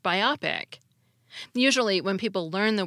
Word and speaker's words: biopic: a compound word out of these clipped forms biopic the misel for biopic is biopic this misel